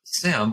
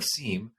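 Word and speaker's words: SIEM: this these opportunities with Sim or seam depending on how you want to pronounce it which is basically a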